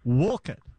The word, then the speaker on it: Wolcott: I'm a resident of Wolcott, Todd. Good afternoon. Wolcott. That is correct, yeah.